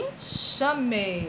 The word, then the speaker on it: enxame: som de ch é em enxame x com som de ch O enxame chame x